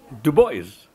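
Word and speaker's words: Du Bois: and the other by harvard university press on dubois got it you missed it do boys to boys to boys boys boys this was a you never know how to pronounce his name but we got it right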